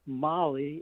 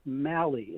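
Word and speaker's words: Mahle: It's not me, it's not Molly, it's Mali.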